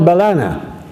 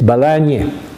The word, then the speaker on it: Balana: The name of that place is written Balana, and even Sir Lawrence Curwen called it Balana. But we know better. Halim knows better. It's Balanya.